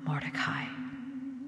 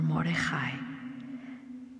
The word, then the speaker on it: Mordecai: he sought to harm Mordecai, or Mordechai, depending on where you're from, how it's pronounced, and his people because of the two eunuchs of the king who were put to death.